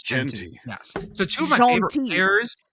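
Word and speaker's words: Jeanty: help me here I know he pronounced his name wrong I did I did I'm afraid to say it oh it's it's Genty Genty yes I was like it's like pants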